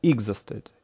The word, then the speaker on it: exhausted: Exhaust, exhausted, exhausted, второй слог, exhausted.